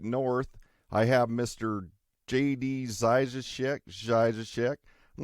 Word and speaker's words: Zajicek: I say Zajicek. My dad, he's Czechoslovakian, so he's big on the proper pronunciation, and it's Zajicek, and he almost kind of spits when he says that.